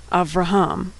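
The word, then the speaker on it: אברהם: It goes right from the V sound to the R sound. Avraham. The shava there is silent.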